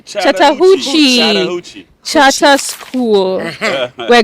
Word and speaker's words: Chattahoochee: Chattahoochee. Chattahoochee.